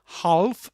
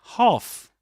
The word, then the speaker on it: half: Again, a silent letter. This is not half but half.